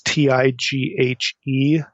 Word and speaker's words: Tighe: appears online by William, I don't know if you pronounce his name Tighe or Teague. It's Tighe.